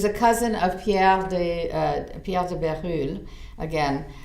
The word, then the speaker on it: Bérulle: cousin of Pierre de Bérulle. Again, it's Berulle, and you may have heard his name with a different pronunciation.